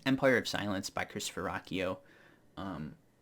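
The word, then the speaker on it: Ruocchio: by Christopher Rocko um now if I wasn't on book and I heard people say his last name that is not how I would pronounce it I would I don't even know how I'd try to pronounce that so I'm not even try but it is pronounced Rocko um so in this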